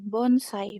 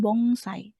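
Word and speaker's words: 盆栽: Nah, itu dibacanya tetap N. Bonsai bukan bongsai tapi bonsai.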